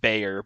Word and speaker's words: Bexar: not the bear well it's pronounced Bayer but it's spelled Bexar which is [ __